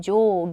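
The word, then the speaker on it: 上下: 앞서 보셨던 " 게샤 " 외 에 도 , 아래 한자 를 " 게 " 로 읽는 " 조게 " 라는 것 도 있습니다 .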